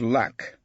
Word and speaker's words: LAC: It was about a meeting of lack. He pronounced it as one word, like the place Sir Lancelot came from.